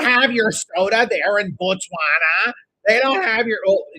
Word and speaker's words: Botswana: So, if you notice that there is an O there's an O in the middle of the name, right? So, it's it's not so it's not actually pronounced Bana. It's pronounced Bana. Botswana.